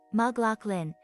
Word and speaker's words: McLaughlin: case you hadn't noticed mclaughlin pronounced maglock lin if announcers are correct then ran in the